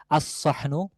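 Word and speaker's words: الصحن: তাহলে সেক্ষেত্রে বলতে হবে আসহনু থালা। থালাটি। ঠিক আছে? তাহলে আসহনু লামের কোন উচ্চারণ থাকবে না।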